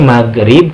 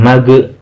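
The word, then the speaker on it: مغرب: disini dibacanya nah ah hati-hati nih maghrib kan gamenya disukunkan jangan sampai dipantulkan karena bukan huruf Qalqalah jangan magrib kalau pantulkan Mage Nah itu mantul kalau seperti itu tapi magrib tidak ada pantunnya Kemudian untuk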